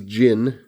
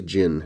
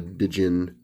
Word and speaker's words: Djinn: gin and that is gin it's pronounced uh the d is essentially silent you know it's a gin it's not a djinn or a din i believe now i've always heard it pronounced jin uh had some friends